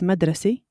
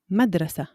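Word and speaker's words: مدرسة: It's written the same way but different pronunciation. Number 2, school. In Shami it's madrasi. Madrasi. In Fusha, madrasa.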